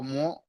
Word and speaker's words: mot: লো মো মানে দ্য le word, mot the word আপনারা লেখেন, আমি আর লিখবো না। দ্য ওয়ার্ড, le mot হ্যাঁ, তো মো কিন্তু টি the সাইলেন্ট, word জাস্ট মো মানে ওয়ার্ড।